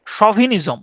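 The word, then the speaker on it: chauvinism: বাক্কানিয়া মানে হচ্ছে জলদস্যু এটার উচ্চারণ হচ্ছে সভিনিজম সভিনিজম সাওভিনিজম সভিনিজম সি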